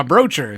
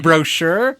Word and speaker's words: brochure: ] did you say my brocher you mean brochure what yeah what am